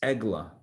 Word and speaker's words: egla: The Hebrew word for wagon is agala. Egla, agala. In Hebrew, they're spelled the same. Ayin, gimel, lamed, hey. The Hebrew words, I'm giving a different vowelization for the two words, but they're spelled with the same consonants in Hebrew, the same letters.